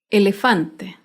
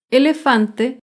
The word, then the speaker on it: elefante: Elefante. Elefante se acentúa en la penúltima sílaba, pero no lleva tilde porque termina en vocal.